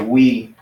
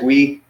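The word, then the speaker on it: υι: That would be pronounced as like we, like us guys, we.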